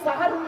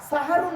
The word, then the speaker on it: সাহারি: আর সিনে জবর দিলে দন্তেশ্বয় আকার। সাহারুন মানে হলো রাতের শেষ অংশের খাবারকে আরবিতে সাহারি বলে। তাহলে শব্দটা সঠিক কি হবে? সেহরি না সাহারি?